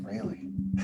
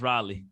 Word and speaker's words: Raleigh: it rightly raleigh raleigh i always call it rayleigh no it's pronounced raleigh probably yeah so how was that like compared